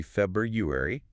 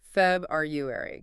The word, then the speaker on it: February: Somebody say it, but technically it's meant to be February with that first R sound. It often gets sort of swallowed. Okay. February.